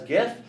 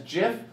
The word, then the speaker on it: GIF: the graphic interchange format which I pronounce as gift if you pronounce it as Jim I am so sorry you are doing it wrong it is one of